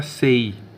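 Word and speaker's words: sei: पांच उसके बाद छह छह बोला जाता है सेई एस ई आई सेई सेई से मतलब होता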